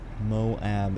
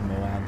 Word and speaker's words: Moab: morning and any other chance that i get moab is how i've heard it and it's an